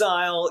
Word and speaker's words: I'll: of I will make it up to you, it's I'll make it up to you. I'll make it up to you. This aisle is pronounced the same as this aisle, and not I.